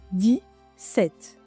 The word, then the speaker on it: dix-sept: attention to the pronunciation in dix-sept you don’t really hear the "x" sound it sounds like di-sèt almost as if we